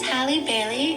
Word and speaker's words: Halle Bailey: Hi, my name is Halle Bailey, and this is E21 with Gucci. So I must have been pronouncing it a certain way.